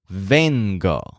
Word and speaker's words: vengo: The word for I come, the present tense first person of venir, is vengo. So the stress is on ven, like Joel's veins, when he comes into the store.